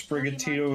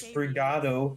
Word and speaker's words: Sprigatito: No, but I heard someone pronounce Sprigatito as Sprigato.